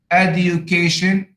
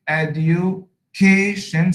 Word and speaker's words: education: So in the word China, first syllable, Japan, second syllable, hotel, second syllable, interest, first syllable, education, education, second syllable, loveliness, first syllable, stupidity, stupid, second syllable, fantastic, second syllable, manly, first syllable.